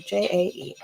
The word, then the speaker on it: Jae: I like how it's spelled. Jae.